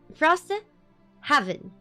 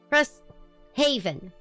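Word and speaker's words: Frosthaven: So, Frost Heaven. Did I say it right? Did I say it right? Frost Haven.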